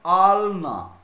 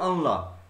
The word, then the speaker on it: আলনা: যেমন আলনা, আমরা প্রায়শই বাড়িতে বলি আনলা, আমাদের দন্তটা আগে উচ্চারণ করি।